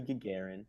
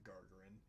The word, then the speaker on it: Gagarin: himself Inside Yes Yuri Gagarin yeah I just found out a couple of months ago that it was pronounced Gagarin I've always pronounced it Garin but Yuri Gagarin Russia